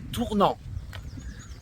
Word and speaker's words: Tournan: va nous amener à Tournan et faut pas tourner mais ça s'écrit tourne m sur la M mais Fred hier soir nous a dit que on disait tournant donc voilà c'est le